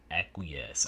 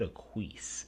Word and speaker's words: Aquas: And real quick comment, I realized in the last reading that uh I mispronounced Aquas. I said Aquis.